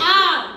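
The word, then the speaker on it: hour: लेकिन हम हावर नहीं कहते, हम कहते हैं आर।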